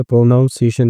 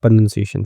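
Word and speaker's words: pronunciation: प्रोनाउंसिएशन नहीं कहते हैं, प्रोनंसिएशन कहते हैं।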